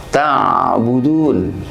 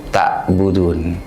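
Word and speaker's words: تعبدون: Dan perlu diperhatikan ketika kita membaca huruf ain, itu ada sifat yang namanya ar-rikhwah, yakni kendor. Maka cara membacanya ta'budun, bukan ta'budun.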